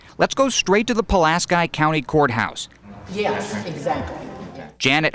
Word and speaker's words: Pulaski: great great uncle and he wants the good people of palasky County to stop mispronouncing his family name it has to start with them teaching their children how to say it and they will grow up saying palasi and then it's going